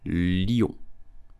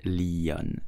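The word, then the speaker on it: Lyon: it in French correctly you will say Leo yeah Leo please do not pronounce it Leon it's totally wrong Leo did you know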